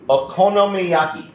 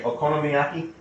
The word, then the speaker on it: okonomiyaki: what we're making today, because I can barely pronounce it. It's called Okonomiyaki. Can you say Okonomiyaki?